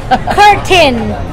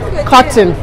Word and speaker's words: curtain: I'm sorry. Curtain. That's curtain. Curtain. Cotton. Do you know that you are the one that taught me how to pronounce that? Because when we used to work on the growler, I would say, oh, did they install the cotton?